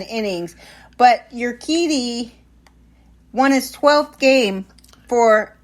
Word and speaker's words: Urquidy: Urquidy or Urquidy? Well, it's a Q. Oh, it's Urquidy. Spelled with a Q.